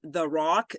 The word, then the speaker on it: RAOC: now you'll notice that this is The Rock notice the way we spell it R AO C stands for real Agent